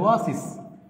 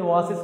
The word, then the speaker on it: oasis: বসানো উচিত যদি আপনি ওয়াসিস উচ্চারণ করেন। এই ওয়াসিস মানে হচ্ছে মরুদ্যান, কিন্তু এর সত্যিকারের উচ্চারণ তো আপনার ওয়াসিস না, এর সত্যিকারের উচ্চারণ হচ্ছে ওয়েসিস।